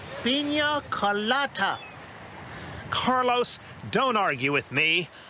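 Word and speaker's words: piña colada: Carlos, could you bring me another pinas coladas? It's pronounced pina colada.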